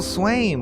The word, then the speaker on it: Swain: one of your hosts Swain which rhymes with frame and here's a co-host